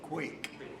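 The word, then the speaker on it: quaich: As you all know, it's a bit of a tradition to carry a quick, is that how you say it? Quake. A quake.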